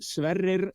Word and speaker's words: Sverrir: And the proper pronunciation is Sverrir.